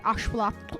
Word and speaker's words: axolotl: actual initial axolotl correctly, because it's axolotl with that click, the TL like sound, and I really struggle to make that. And because of my lisp, I struggle to make the axolotl sound correctly.